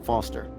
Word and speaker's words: Foster: pickle so it does I'm Foster I'll remember that easy because your name runs with fossil and you're old thanks kid what's wrong with the round about it sucks Steven mr.